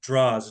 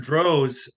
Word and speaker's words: Droz: Droz, is it Droz or Draws, John? It rhymes with a flower rose, so you're right. Okay, great. Mr. Droz, a physicist, became popular